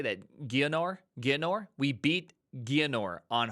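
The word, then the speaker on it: Geonor: o r uh how do you say that gonor gor we beat gonor on Hardcore first try ever Jon nor that was the most intense moment of my lifetime it's pronounced gonner all right goar did you see goar sh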